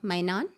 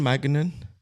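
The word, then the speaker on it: Maignan: Please tell me if I'm pronouncing his name correctly. It's Michael Mainan. At AC Milan. Yes, The darling, goalkeeper. the goalkeeper. How do you pronounce his, Isn't Magnan? it's Maiganon.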